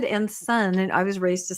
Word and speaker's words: Ensign: Ensign and Zun. You're going to find all kinds of different people. Ensign is the correct one. I know it is, but I said Ensign, and I was raised to say it that way.